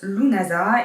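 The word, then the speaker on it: Lughnasadh: Donc ça se prononce Lunasa et ça signifierait assemblée de loups, donc c'est-à-dire le dieu loup.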